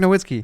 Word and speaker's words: Nowitzki: How do you pronounce it? Just it's say Dirk it. Nowitzki.